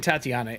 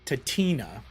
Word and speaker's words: Tatina: Okay, she's and I've been saying Tatiana. It's Tatina. I've been mispronouncing it.